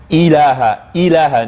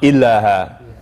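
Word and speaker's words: إله: So similar here, ilaha, not illaha, or illallah, illallah.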